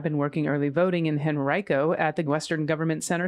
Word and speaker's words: Henrico: Just a minor pronunciation of the place Henrico, which you pronounced Henrico, which I just did. It's actually Henrico.